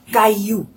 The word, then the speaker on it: caillou: When you have two vowels side by side and there are two L in between two vowels, you will not pronounce the L. The L will be silent.